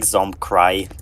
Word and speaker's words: Zomkratch: It's a nation that I pronounced like Zomcry. Zomcry.